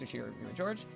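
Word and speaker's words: Ushiromiya George: Pronounced Ushiro George.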